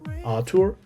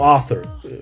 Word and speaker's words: Arthur: keep my real name Arthur Arur depends where you're from and how you pronounce my name. So Arthur we pronounce it now in English.